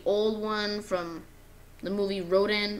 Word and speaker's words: Rodan: one from the movie Roden or Rodan as people like pronouncing it as well I just really like